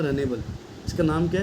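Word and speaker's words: Runnable: फिर से बोल रहा इसका नाम है रनेबल रनेबल रनेबल रनेबल interface है ठीक है स्पेलिंग मत जाओ आर य double N ए बी नेबल interface है और रनेबल इंटरफेस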